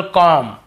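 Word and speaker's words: comb: है तो हमें बी को नहीं पढ़ना केवल कॉम यहां पर भी बी को नहीं पढ़ना है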